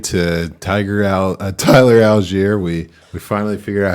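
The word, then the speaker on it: Allgeier: baby from a guy that went from tyler al galeri to tiger out tyler algiere we we finally figured out how to say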